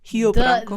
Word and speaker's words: Rio Branco: It would technically be Rio. With an H. Rio Branco. The pronunciation makes no sense to me in Portuguese. Oh, it doesn't make any sense to me either. Trust me. Does not make sense. Took a long time. The R's are the worst of it. Is it? How do you pronounce the R? So if the R is at the beginning of the word, it's an H.